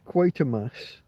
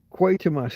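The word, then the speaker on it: Quatermass: Quite a mass spelled like quarter mass, but with without the middle R, without the R in the in the middle. Quite a mass.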